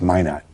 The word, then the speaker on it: Minot: It's Minot. Yeah, Minot, North Dakota. That's the French pronunciation.